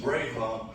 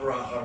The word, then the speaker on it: Braha: Thank you, Chuck, but last name is pronounced Braha, not Braha. Remember, no bra.